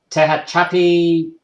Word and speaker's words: Tehachapi: Then from there, it went south to Norman Road, Moreno Valley, and now it's in, I'm probably going to butcher this, Tehachapi. How do you pronounce that?